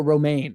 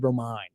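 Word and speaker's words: Romijn: tell me it was Rebecca Romaine and I said Romine?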